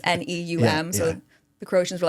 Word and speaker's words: Neum: I don't know how you pronounce it. It's Neum.